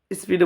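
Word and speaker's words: ث: সা উচ্চারণ হবে জিভের ডগা এবং উপরের দাঁতের সামনের অংশ। সা, সা, সা, জিভের আগাটা গিয়ে উপরের দাঁতের সামনে লাগবে। সা, সা, সা, সা, সা, এইভাবে সা উচ্চারণ হবে।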